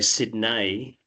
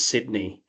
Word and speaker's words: Sydney: Um, they'll often say Sydney, but it's Sydney.